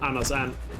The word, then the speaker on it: Anders And: Donald Duck is called Anders And in Danish. Since ant is the Danish word for duck. And then Anders, you know, obviously Anders, and, you know, it rhymes when you say it in Danish.